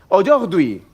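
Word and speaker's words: aujourd'hui: Cómo se dice hoy quién lo sabe Oy Dui claro Yo no sé francés si yo tengo que escribir Oy Dui con lo que y Domino que es el alfabeto Castellano yo pondría A lo mejor o Yogi con g o Yogi nadie me ha dicho que se escribe aur apóstrofe hui si tengo que aprender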